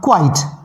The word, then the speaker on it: quite: क्विट में मैंने ई ऐड कर दिया, तो स्पेलिंग आपकी हो गई QUITE, बट इसका जो प्रोनाउंसिएशन है वो होगा क्वाइट। क्या होगा? इसका प्रोनाउंसिएशन ध्यान से सुनिएगा, इसका प्रोनाउंसिएशन होगा क्वाइट।